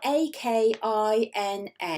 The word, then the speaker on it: Akina: It's spelled A-K-I-N-A.